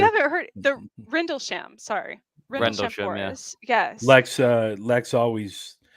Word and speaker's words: Rendlesham: But he had grown up near the what is it, the Randlesham Forest? Randlesham, it's equivalent to like Roswell. Okay. It's in Suffolk. I'm probably completely mispronouncing this.